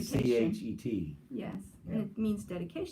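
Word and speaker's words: חית: Hanukkah, because we're used to seeing H sound ha, but it's actually Hanukkah, a hard H, and it's pronounced it should be CHET.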